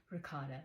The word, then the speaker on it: ricotta: show you how to make lemon Rota cookies ricotta but proper way to say it rot it's